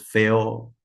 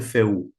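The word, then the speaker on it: Fehu: Entonces, tenemos a la runa número uno, que para nosotros es feo, pero se puede pronunciar también feu o feo.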